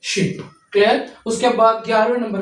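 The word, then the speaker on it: 십: इ वाला वने शी शी नीचे फिर बी ओ की पे आवाज़ बनेगा शिप।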